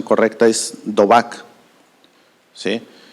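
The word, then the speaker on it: דָּבַק: No, o sea, es en el original, en el hebreo, esta palabra unión, no estoy seguro de tener la pronunciación correcta, es dobak, ¿sí?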